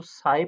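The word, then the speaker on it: psi: से डोनेट करते हैं ये पीएसआई होता है ले उसको साई प्रोनाउंस करते हैं ी लेटर है साई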